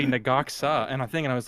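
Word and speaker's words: Ne-Gok-Sa: And then I heard somebody else, like 2 or 3 weeks ago, I heard somebody say Nagaksa, and I was like, that's the way that's pronounced?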